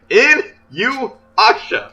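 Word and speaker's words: Inuyasha: In-you-asha.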